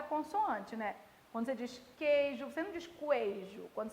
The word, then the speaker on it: queijo: QU e GU quando o U não é pronunciado.